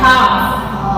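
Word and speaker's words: half: एच ए एल एफ, हाफ, okay.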